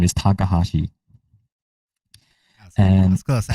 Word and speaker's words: Takahashi: last name, which is my last name is Takahashi, I and was close. I knew it Takahashi. was like Takashi or like Takahashi.